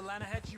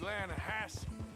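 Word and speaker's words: Lannahechee: the other day i rode down to the lana hatchy river i caught some beautiful steelhead trout you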